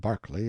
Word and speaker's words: Berkeley: sellers vice count berkeley of chalmundale castle warwickshire pronounced kakubri slanover marsh bank sellers vikant barkley of chumley castle workshop he is standing by